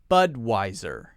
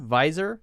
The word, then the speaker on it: Budweiser: sound at the end Budweiser Budweiser Bud why sir Budweiser notice that we're stressing the first syllable here but wiser now some people will pronounce this with a V sound visor visor but we say the clear W Americans like to use